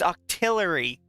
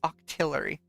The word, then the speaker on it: Octillery: really good after leaks it's Octillery people keep saying it wrong it's Octillery but yeah no he's